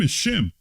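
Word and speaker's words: Shem: it technically it's not sim shim okay all right Greeks don't have the sh sound right okay so quite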